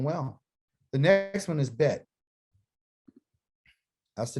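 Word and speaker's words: בית: The next one is bet. That's the name of it. It's called a bet. Like, hey, let's make a bet.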